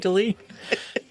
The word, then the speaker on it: Dalene: My name rhymes with queen. My mother when we were bad as little kids used to say, "I'd like to crown you." So queen. Queen of networking delete.